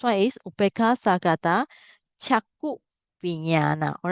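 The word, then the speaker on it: viññāṇa: The first one is upeka sagata chaku vinyana. All right. So remember this I mentioned to you all when you for those who learn Pali, this is pronounced a nya, right?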